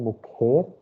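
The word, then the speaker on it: mujer: the third one here mukher is the pronunciation i told j is her pronunciation okay last one i'm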